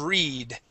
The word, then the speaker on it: read: Okay, past tense of read, read.